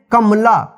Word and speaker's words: कमला: से, कमला, देखिए कमला, क में अ की साउंड आ रहा है, लेकिन म पे जो है अ की साउंड नहीं आ रहा है, इसका उच्चारण जल्दी जा रहा है, कमला, कमला नहीं होता है, इसको पढ़ेंगे कमला।